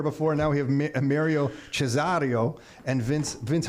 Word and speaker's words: Cesareo: Cesareo. Oh, Cesareo. It is the day of Italians in here. I just mentioned that we had Fabio in here before. Now we have Mario Cesareo and Vince.